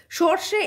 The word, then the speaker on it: সর্ষে: আমরা বলেছি রেফের ক্ষেত্রে রয়ের উচ্চারণ আগে হয়, তারপর পরবর্তী বর্ণের উচ্চারণ হয়, তাই তো। সর্ষে, তাহলে সর্ষে বা সর্ষে, তাহলে প্রথমে কার উচ্চারণ আসছে, সর্ষে, আগে রয়ের উচ্চারণ আসছে, তারপর শয়ের উচ্চারণ আসছে, তাই তো।